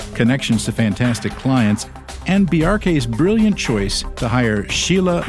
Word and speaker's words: Bjarke: pronounce your first name I normally explain it like there's a reference to Bjork because it's similar BJ yeah but the symbol hack just like you would say FBI or CIA you pronounce every letter in the acronym say the acronym BRK quickly BRK BRK oh okay that's how